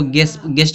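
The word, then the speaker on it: guest: फिर यहाँ दिया गेस्ट, इसके गेस्ट नहीं पढ़ेंगे, इसको गेस्ट पढ़ेंगे। यहाँ पे यू क्या है, साइलेंट है।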